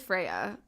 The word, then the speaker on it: Freya: It's like, no, it's not the Nordic pronunciation. But it's okay. And I really think that she's not gonna hate me for saying Freya. And, like, it's like the English pronunciation of it.